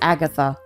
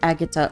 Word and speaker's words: Agatha: So, her real name is Agatha. It's just she couldn't pronounce the th sound until she was older. But by then, everybody knew her as Agata already.